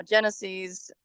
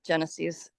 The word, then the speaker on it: GENASYS: app, it's now called Genesis, or it's a weird spelling, GENASYS is I think how they spell it, Genesis. And that's replaced Zone Haven. Yeah, I believe it's pronounced Genesis, which means the beginning.